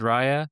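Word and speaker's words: Raya: belief in David David Rya. Um, I'll pronounce it in the in the way that the Spaniers do, but I think that's huge and I think that does give them a chance, you know.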